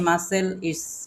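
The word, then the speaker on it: muscle: বুঝতে পারলেন আমরা বলি না যে আমরা বডি মাসেল মাসেল আমরা কিন্তু এটা কিন্তু মিউজিক্যাল না বুঝতে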